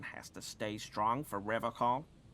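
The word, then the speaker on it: Revachol: to stay strong for rev call he pronounces revon with a hard K unlike other people serious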